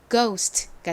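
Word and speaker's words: ghost: 소리가납니다이 단어를 읽어 보면 gh n 기억 소리가 나고는 O 소리가 나고 s n 스 소리 티는 티 소리 트 소리가 나서 고스트가 됩니다 한국식으로는 고스트라고 읽고 쓰는데요이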